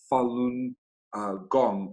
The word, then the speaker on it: Falun Gong: chinese spiritual discipline in the buddhist tradition it's pronounced falun gong and it consists of moral teachings a meditation